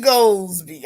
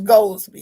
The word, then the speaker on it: Goldsby: Her name was Sergeant Dee Goldsby. I used to say her name like that, but it was Goldsby. It was one name.